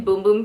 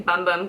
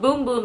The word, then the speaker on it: Bum Bum: de Janeiro the Brazilian boom boom cream have been things all over Sephora so on first glance everyone thinks it's the Brazilian bum bum cream but it's called boom boom it's pronounced and it